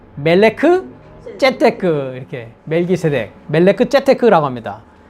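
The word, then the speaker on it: מלכי־צדק: 근데 이제 원문 그 발음을 그냥 해보면 멜기세덱이 아니라 멜레크 째테크 이렇게 멜기세덱, 멜레크 째테크라고 합니다.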